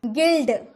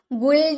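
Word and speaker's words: guild: गिल्ड, गिल्ड यानी कि समाज, गुल्ड नहीं बोलेंगे, गिल्ड बोलेंगे।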